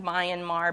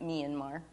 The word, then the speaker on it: Myanmar: the capital of Myanmar looks like my and Mar but they pronounce it Myanmar and they've moved the